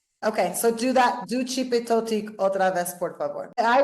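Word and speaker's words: Xipe Totec: Yeah, how do you spell it? X-I-P-E space T-O-T-E C. XIP or D? Chipetotic.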